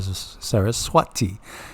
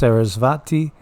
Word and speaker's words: Saraswati: and music herself Sarah Sarah Swati Sarah Swati you will also hear it pronounced sarasvati uh the W and the V type sound you'll hear it either way yes you will and